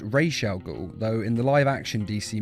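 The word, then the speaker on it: Ra's al Ghul: thought you'd be taller instantly his name is pronounced Rael go though in the liveaction DC movies and TV series he is often called Raz now am I pronouncing this right Mr Raz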